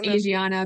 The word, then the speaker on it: Asiana: how to pronounce it it's either Asana Asiana or aana I it's Asiana because my Korean dentist told me that okay so because